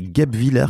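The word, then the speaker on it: Guebwiller: ne savais pas et j'ai prononcé ça comme un Parisien donc c'est pas gub Viller mais c'est gub Viller qu'on dit c'est ça gub Viller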